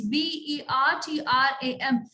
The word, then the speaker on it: Bertram: Now here the spelling is B-E-R-T-R-A-M. So here the R is silent.